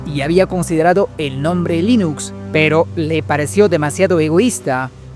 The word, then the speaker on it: Linux: Cuarto dato curioso para demostrar cómo se debe pronunciar la palabra Linux, Torwals incluyó una audioguía con el código fuente del kernel. Hello, Linux and Linux Linux.